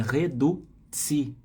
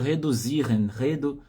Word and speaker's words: reduzieren: na pronúncia, tem que tomar cuidado com a pronúncia. Então é reduzieren. Cuidado para não fazer reduzieren, vai avacalhar a pronúncia da palavra.